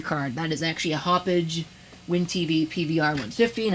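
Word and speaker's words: Hauppauge: That is actually a Hoppage WinTV PVR150, and I'm sure somebody is going to get on my case about not pronouncing it Hop Hog, but frankly, I think that Hop Hog sounds stupid, so I'm going to pronounce it my way.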